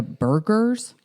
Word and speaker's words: Burghers: Yeah, no, not like hamburgers. Oh. Instead, the word's spelled with an H, meaning middle-class townsman. Oh. Yeah, but not an H like Hergers, an H in the middle, like burgers.